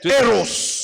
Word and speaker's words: Eros: Premier amour, Mapendo ya kwanza nous l'appelons en grec Eros. tuleta mkiyunani eros. L'Eros. Eros. Comme ça se prononce.